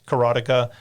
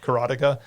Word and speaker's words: Karateka: the making of karateka there is some debate about how to pronounce carotica that is the way I've always heard it pronounced so I'm just going to go with carotica um there is the